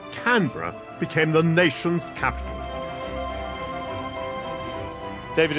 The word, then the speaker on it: Canberra: So I suspect she said Canberra, and Canberra it has become with two syllables.